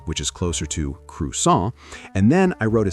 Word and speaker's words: croissant: The mistake croissant. the correction, the proper French pronunciation, which is closer to crus.